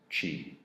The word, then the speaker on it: Qi: a wireless charging case it's spelled Qi it's pronounced Qi my wife likes going to a Kia she